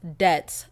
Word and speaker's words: debt: but next person says deps is pronounced debts the B is silent yeah bitch I put